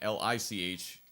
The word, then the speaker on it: lich: the sound leech um and l-i-c-h is pronounced that would be pronounced lich so i had to